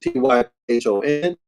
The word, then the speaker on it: Typhon: The great Mother Typhoon, Typhoon, however pronounced Typhon, also called the old woman.